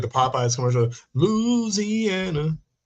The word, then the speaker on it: Louisiana: You pronounce it right with the I.